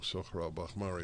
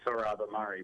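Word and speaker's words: Sohrab Ahmari: i know i know sahara bahmari will agree by the way am i pronouncing your name correctly you're just pronouncing it like a persian word which i'm iranian um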